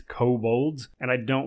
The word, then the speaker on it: kobold: that's very common is i pronounce uh kabul's kabolds a lot of people will tell me how it's pronounced kobolds and i'm like i'm